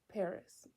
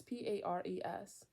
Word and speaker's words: Pares: the later work of Richard Paris. I don't know how to say it. It's Pares.